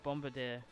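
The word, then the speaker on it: Bombirdier: I'd say Bombay dear the r makes it Bombardier common flamigo I believe in you Bombardier no that doesn't the eyes definitely not relevant to that pronunciation but no Bombardier because it's like Brigadier that's why I say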